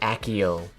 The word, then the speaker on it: Accio: I remember being when people said Accio. Because that's Accio's how they say it in the movies, right? Accio broomstick. And that felt wrong to me.